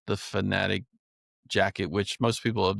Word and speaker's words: Fanatic: It's been out a while, and I guess I was saying it wrong. It's Sitka Fanatic, not Fantic.